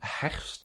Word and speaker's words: herfst: One last thing, herfst is one of those words that have so many consonants, herfst, and that's a little bit difficult to pronounce.